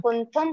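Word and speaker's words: कुंथुं: कुंथु अरम च मल्ली बोल देंगे, कुंथु नहीं है, हाँ, कुंथुम अरम च मल्लिम। बंदे।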